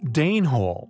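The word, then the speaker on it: dene hole: ourselves and our hope Dan Hall yet pronounced Dane Hall after the Danes intriguingly their purpose although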